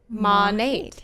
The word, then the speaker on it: Monat: you pronounce it because I bet you hear MA net mone muncher raised its modern nature right yes so does that mean mom Nate yes you're exactly right yes do you hear